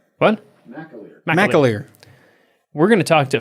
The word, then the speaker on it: McAleer: name or is it what's his last name mccallier what mcaleer we're going to talk to phalem mcaleer yes